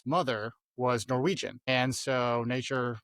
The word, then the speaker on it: Natur: And so nature, Natur is how you say nature in Norwegian.